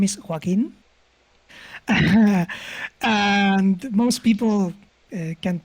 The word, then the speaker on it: Joaquin: hard name for english speakers my name is joaquin and most people can't pronounce it well so congrats or i'll just